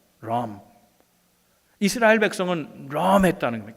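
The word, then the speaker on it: רום: 이 볼드라는 말은 영어식으로 발음하면 R-U-M, 럼입니다. 럼.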